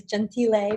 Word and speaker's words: Gentile: I say Gentile, so that's fine. The Italian proper way is Gentile, but yes, it's Gentile.